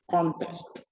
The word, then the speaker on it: contest: The first word above contest is a noun, and it means a game or competition. We pronounce it by putting the stress on the first syllable, contest. Compare it to the following, contest, contest. This time, the stress is on the second syllable.